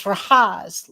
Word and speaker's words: Rahaz: He said, "My real name is Rahaz, like rhymes with Oz, as in the wizard of."